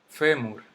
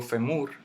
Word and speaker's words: fémur: Fémur no termina en esa vocal, termina en R. Yo no digo femur, yo digo fémur. Y cae en eso, en la fe.